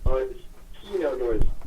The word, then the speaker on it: Keyno North: Key north like a key no and then northwest direction.